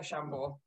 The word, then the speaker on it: Chambord: my mother drinks that so i know chambord um silent d i'm going with framentro